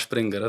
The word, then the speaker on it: Springer: How do you pronounce it? Eh, look, we call it Springer, but a lot of people call it Springer.